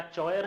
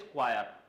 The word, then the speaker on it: choir: इसका, तुम बताओ, क्या चॉयर है, क्या क्वायर है, नहीं, प्रोनाउंसिएशन याद रखें, द प्रोनाउंसिएशन इज क्वायर।